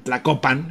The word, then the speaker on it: Tlacopan: era un barbarismo porque Tacuba es un barbarismo realmente es la copan pero pedirle a los españoles que pronuncian tlacopan era extremadamente difícil no Entonces se acabó